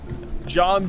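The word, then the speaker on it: Jawn: And his name is spelled J A W N. Yeah, J A W N. John the Maniac.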